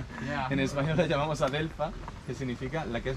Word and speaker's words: adelfa: So in Spanish we say adelfa, or we don't say oleander, we say adelfa, which means in Arabic the very bitter one. Yeah. En español la llamamos adelfa, que significa la que es muy amarga.